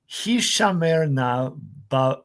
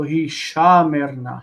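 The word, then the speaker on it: הִשָּׁמֶר־נָא: This is not word stress. It's just saying that it's a long vowel that's in a distant syllable and is not reduced.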